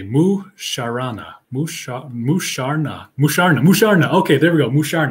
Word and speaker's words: Musharna: mind marsh okay moo sharana musha musharna musharna musharna okay there we go mushar now that's how you pronounce that thank you and no man you